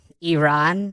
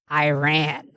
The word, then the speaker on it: Iran: This just shows to me that he's a very fake and scripted person, because he'll say Iran, which is the proper pronunciation, and then in the same sentence he'll say Iran.